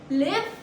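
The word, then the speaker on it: live: First pronunciation is एल आई ई। It rhymes as गिव। लिव गिव लिव गिव।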